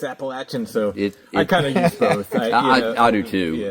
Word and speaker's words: Appalachian: interesting yeah yeah up here it's Appalachian Appalachian I mean most of my life I grew up saying Appalachian I was you know some some people from from the mountains sort of corrected me no it's it's Appalachin so I kind of